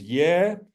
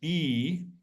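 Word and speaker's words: ѣ: So all Slavic speakers that know Old Church Slavonic will recognize this, but this vowel, the Russians pronounce it as ye, Ukrainians pronounce it as E.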